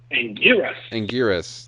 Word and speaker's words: Anguirus: But in the meantime, Godzilla comes up against a spiny 4-legged kaiju called, and I'm going to mispronounce this, Anguirus? Anguirus.